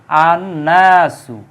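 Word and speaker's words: النَّاسُ: 14 number হচ্ছে নুন এই নুনটাও কিন্তু শামসিয়াত নুনের পূর্বে আলিফ লাম আসলে উচ্চারিত হবে না যেমন আননাসু আন নাসু মানে নাস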